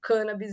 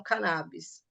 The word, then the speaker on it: cannabis: Regional de Medicina e ele apresenta como a pronúncia correta sendo cân Bis e não cannabis Na época eu também